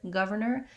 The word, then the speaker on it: governor: er and then ner so you might find that breaking it into these three syllables gov or ner helps you but it's still challenging to sequence that ver and ner together one of the things that americans do when they're saying the word governor is that they may actually reduce it a little bit and say it more like governor governor where they kind of leave out this